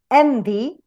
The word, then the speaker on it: envy: For example, in a word as open, open, or equal, or enter, envy, you have the last or final syllable weak. That's why the stress goes in the first one.